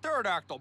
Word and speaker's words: pterodactyl: Pterodactyl bros. Boosh. Hey, I pronounced it right that time.